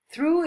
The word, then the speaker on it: threw: Through is pronounced exactly like through. Be sure to put the front of your tongue between your teeth and through and blow air to produce the sound.